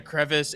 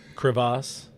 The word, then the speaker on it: crevasse: AJ Hinch happens to fall in a crevice and is unable to win or unable to manage the World Series, so be it. It's pronounced crevasse.